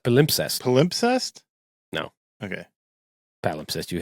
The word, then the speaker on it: palimpsest: It's pronounced palimpsest.